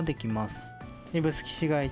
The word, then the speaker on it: 指宿: がこの指宿駅指に宿と書いて指宿と読みます自動改札機など